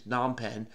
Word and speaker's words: Phnom Penh: I think maybe you don't pronounce the F, so maybe it's Phnom Penh.